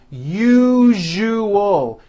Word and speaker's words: usual: Break it up into 3 syllables. U-ju-ul. That second syllable, ju, the one with the underline, needs to be voiced. Put your hand on your throat and feel for the vibration in the second syllable. U-ju-ul. Now put it together.